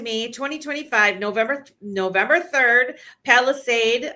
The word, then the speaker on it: Palisade: Palisade. I think I'm saying it right. P A L I S A D E for those who um might think I'm saying it wrong.